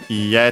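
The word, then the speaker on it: いいえ: accent on the ha, ie, technical accent on the e at the end, so even though usually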